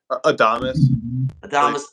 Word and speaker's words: Adames: Is it Adams or Adames? Adames.